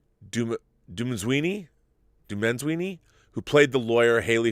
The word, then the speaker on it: Dumezweni: It's Dumenzwini, who played the lawyer Haley Fitzgerald. Wow, she was fantastic. She delivers, I think, my favorite performance of the year. Noma, and you spell that last name Dumezweni. Dumenzwini?